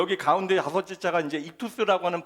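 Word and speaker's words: ΙΧΘΥΣ: 근데 여기 가운데 다섯째 자가 이제 익투스라고 하는 발음을 가지고 있는 것인데 로마 시대의 그리스도인들은이 마크만 보면 물론 그 가운데 이투스라고 하는 글자는 쓰지 않아요.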